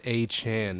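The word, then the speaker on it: Achane: of the ball was Devon aain or a a Chan is is that how he pronounces it yes Devon aan is how it's pronounced I saw aan yeah um but he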